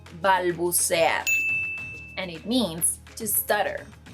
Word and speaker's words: balbucear: Another verb is, no, this verb is not pronounced balbucear, it's pronounced balbucear, and it means to stutter, which is what I do whenever I'm recording videos for Spring Spanish.